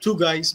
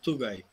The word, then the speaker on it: Tugay: Not like two guys, but Tugay.